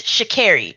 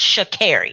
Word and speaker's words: Sha'Carri: And just to let y'all know, Sha'Carri Richardson is from, excuse me, it's Sha'Carri. She did correct people back then. Her name is pronounced Sha'Carri.